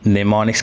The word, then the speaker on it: mnemonics: सो the pronunciation is without first M. एज यू कैन सी मैंने निमोनिक्स के first M को cross किया है क्योंकि इसको हम प्रोनाउंस नहीं करेंगे.